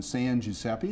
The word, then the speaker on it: San Giuseppe: If you'd like to visit the exhibit at the Mound, it is housed in the San Giuseppe, is that the right way to pronounce it?